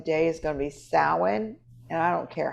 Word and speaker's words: Samhain: ideas so everybody remember it's samhain however you spell it however you say it and it's salven because i am scots so we say it a little bit differently scott's gaelic so check